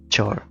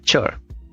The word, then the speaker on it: chore: so it's it's a chore not aore like paracore she hat from parore is like a k but chore is like CH from chocolate so this is English